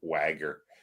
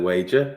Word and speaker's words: Wager: Yeah, I just purposely say Wagger, and then that confuses people, and then they'll turn around and say, "Well, no, you're mispronouncing it." It's like, yeah, it's good though. The Wager, I really enjoyed it actually.